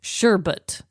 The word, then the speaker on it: sherbet: looked up the pronunciation it's without the extra r on the end and it's apparently pronounced sure but sure but sure but